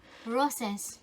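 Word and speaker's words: Roces: How would you pronounce that? R-O... Yeah. Roses. Roses. Okay, I was right.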